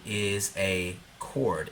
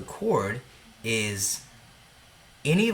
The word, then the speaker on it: chord: what in the world is a chord and just note that that H is silent so chord is any line segment let's be